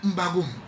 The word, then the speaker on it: M'Bagu'um: allez mieux comprendre les choses quand vous prenez mbagou qui s'écrit comme suit m B a g u